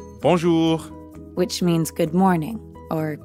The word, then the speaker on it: bonjour: add the second part notice how the j in bonjour sounds a lot like the middle of the english word measure and the r at the end of ju doesn't really sound like an english r you should feel that r in your throat yeah almost like you're gargling or clearing your throat time for another speaking